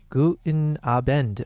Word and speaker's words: Guten Abend: Guten Abend. Oh, it's got an N to it.